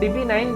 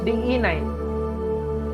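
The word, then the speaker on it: DE-9: oftenly if we google it will find us db9 which is wrong this thing we have explained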